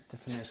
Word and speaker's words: Tiffany's: Tiffany's Cafe Bar. It's actually called Tea Fanny's, but you pronounce it Tiffany's.